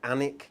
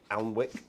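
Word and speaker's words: Alnwick: beautiful we went to anik castle yeah except i do not understand because it's spelt a-l-n-w-i-c-k which surely is at allen wick but it's not his annika and it castle anyway and it's where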